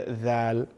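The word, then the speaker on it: ذ: When we are saying the letter, pronouncing the letter dhal, the tip of the tongue is coming out.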